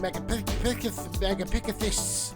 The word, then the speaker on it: Megapithecus: Just gotta get 2 more, then we can fight the giant Megapithecus.